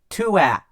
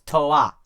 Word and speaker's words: Toa: Lego got sued, but because of that, Bionicle is actually pronounced a lot of the same way Japanese is pronounced.